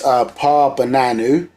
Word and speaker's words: Paa Bananu: So this is Paa Bananu. Yeah, Paa Bananu, Paa Taraq, Paa Bananu. That's P-A-A, separate word, yeah, Paa, and Bananu is spelled B-A-N-A-N-U.